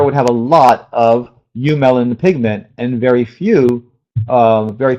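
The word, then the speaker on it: eumelanin: pigment you melanin pigment that's partially but it's pronounced you melanin it's your black and brown pigment okay so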